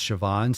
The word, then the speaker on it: Siobhan: And you can have fun pronouncing or spelling her name, saying congratulations, Siobhan, but it's Siobhan.